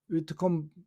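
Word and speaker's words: Whitcomb: 위트컴 해가지고 마지막에 B자가 묵음인데 이 묵음 글자 하나 빠져가지고 너무 고생했어요. 하여튼 이 위트컴 B자를 찾고 나니까 그분의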